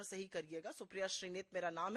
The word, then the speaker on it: सुप्रिया श्रीनेत: दे दिया कि मेरा नाम याद रखिएगा और उच्चारण सही करिएगा। सुप्रिया श्रीनेत मेरा नाम है, मैं उत्तर प्रदेश महाराजगंज से आती हूँ।